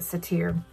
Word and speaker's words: Cettire: You pronounce it Cetire.